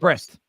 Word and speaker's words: Brest: Brest. Is it pronounced Brest? Yeah.